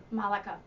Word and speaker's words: Malecha: As in studio from the Northfield area, Malecha and is it Malecha or Malika? Malecha. Malecha. It's pronounced both ways.